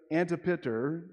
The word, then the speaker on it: Antipater: Julius Caesar appointed Herod's father, his name is pronounced Antipater, to be governor of Judea under Roman rule.